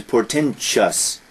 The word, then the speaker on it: portentous: Now that's interesting because here, although it ends T-O-U-S, the pronunciation is portentous. We were talking about mischievous before, and people say mischievous. Here people say portentous, but there is no I, there is no E.